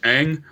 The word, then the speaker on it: Aang: It's pronounced Aang.